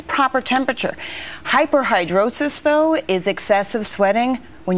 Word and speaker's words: hyperhidrosis: the problem is caused by excessive sweating or hyperhidrosis dr. Lisa that nur is nodding her head because I pronounced it correctly she's a medical contributor and